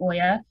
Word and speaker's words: Oya: It's pronounced Oya.